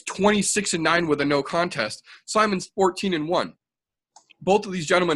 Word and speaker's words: Simon: Ronnie Yaya versus Ricky Simon. Who? I just want to say you did pronounce Simon correctly.